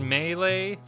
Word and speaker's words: Melee: know here we go it's pronounced melee nah screw that it'll always be Super Smash Brothers Melee to me got thousands of hours in that game and I still say Mee that'll always be Mee even if in English